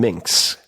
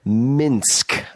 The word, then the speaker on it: Minsk: and was born in Minkx, not Minkx, Minsk.